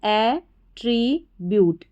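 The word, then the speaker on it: attribute: Tree, a tree, और BUTE को हम ब्यूट पढ़ेंगे, ये याद रखना, ये भी रिपीट होता है, इसको ब्यूट करके पढ़ा जाता है। तो क्या बन गई हमारी स्पेलिंग, एट्रीब्यूट, एट्रीब्यूट, एट्रीब्यूट।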